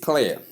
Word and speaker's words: clear: Common error, replacing the diphthong, ear with air or ear.